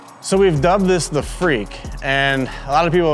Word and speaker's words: FREK: of time you understand in Japan they say FR for front engine rear drive and then it's an EK so f-r-e-k that's where the name came from and it's kind of a freaky car so we just dubbed at the freak essentially it started because